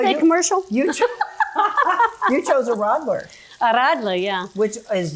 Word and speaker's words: Radler: And then they have the Radler. Mm-hmm. And don't you like how she says that? You got to roll your R.